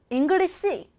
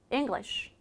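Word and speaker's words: English: 무시합니다 예를 들어 볼게요 영어라고 하면 우리 영어 잉글리시 잉글리 시라고 생각하시잖아요 시란 발음은 존재하지 않는 이상한 발음 engish engish 이렇게 맨 마지막 자을 살짝만 발음해요 같이 한번 읽어 볼까요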